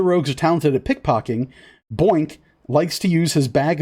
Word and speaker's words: Boink: sorry boy n k so what's that point oh it's boink oh my god his name is boink i love him is